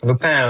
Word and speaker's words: Lupin: Lup. Yeah. You you know exactly how to pronounce it in French. Yeah.